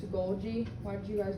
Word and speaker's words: Golgi: was saying this wrong i kept i said goldie apparatus right it's a golgi why did you guys not tell me how